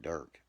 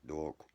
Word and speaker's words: Dirk: I know I said I'm calling him a dork when he said that cuz he calls he's trying to say my name Dirk, but he says dork.